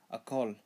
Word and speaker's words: Akol: Akol, sun, akol. Pronounce as a ko ol, a ko ol, a kol.